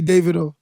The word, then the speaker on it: Davido: name to be pronounced I honestly I don't care but it's actually Davido okay so what is deito like why did they say that deito I don't know people